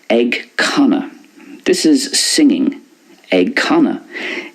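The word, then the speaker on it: ag canadh: It's pronounced ag canna in Munster and in Connacht. But in Ulster, it's more like ag canú. Ag canú. Because very often the ADH in Ulster makes an oo sound.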